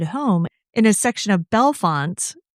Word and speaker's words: Bellefonte: I had to ask you, and luckily I I watched a Dateline episode on this, too, and they also reinforced that it's Bellefonte, because to me it looks like Bellafonte, and that's how I would have said it.